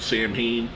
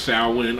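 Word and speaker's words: Samhain: I say that because the dancing band was always called Sam Hayne I think it's pronounced sawin I'm not 100% sure but anyway the events that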